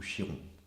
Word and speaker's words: Chiron: Ce centaure, c'est Chiron, hein, ou Chiron, vous prononcez comme vous voulez.